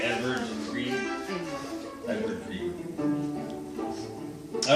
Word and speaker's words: Edvard: The D kind of softens to somewhere between a V and a W, so I call it Edvard Grieg.